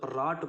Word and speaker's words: wrought: இப்போ 4 word ராட்டு பாருங்கள், R plus ஆ plus D அவ்வளோதான் ஓகேங்களா ராட்டுங்கிறது. ஆனால் ஸ்பெல்லிங் பாருங்கள் WROUGHT இவ்வளோ வேர்டு இருக்குது. ஆனால் ப்ரொனவுன்ஸ் பண்ணும்போது ராட்டுன்னு தான் படிப்போம் ஓகேங்களா.